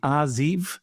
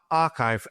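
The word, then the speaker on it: arXiv: been put in the is it the ariv is that how you pronounce it so so archive a rxiv now this is well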